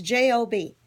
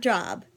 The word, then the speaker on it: Job: will tell you about it's Jo B it is not job it is job job is a person job is something we